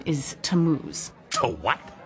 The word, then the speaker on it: Tammuz: where do I find them his name is tamuse to what t-a-m-m-u-z it's pronounced tammuz maybe if you show me your